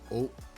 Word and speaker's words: Eau: the meme was that it hit every vowel but you pronounce only one oh yeah well that's when you look at the word Eau all of that is oh let me just it's